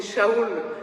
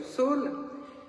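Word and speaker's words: שאול: du premier roi d'Israël qu'on prononce comme vous le savez souvent, enfin on essaie en hébreu de moi en tout cas de le prononcer Shaul mais aujourd'hui si vous permettez je rester je garderai la prononciation de Saul et un prénom romain Paulous.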